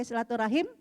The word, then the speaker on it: silaturahim: Nah kalau memang bukan dalam penulisan ilmiah, mau pakai silaturahim atau mau pakai silaturahmi, ya sama aja dua-duanya ya penulisan atau pengucapan yang benar.